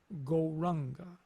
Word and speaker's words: Gauranga: The mantra we will be using is the mantra Gauranga. We will divide Gauranga into 4 syllables. Go, Ra, Ang, Ga.